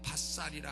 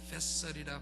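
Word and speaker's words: vassal: V-A-S-S-A-L. 우리말로 어떤 분은 밭살이라 하는데 vessel이라 발음해야 되죠.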